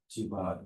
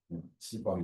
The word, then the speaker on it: Chiba: So Chiba is correct pronunciation. Japanese Chiba is not C번.